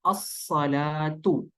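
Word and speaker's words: الصلاة: जी अस्सलातु।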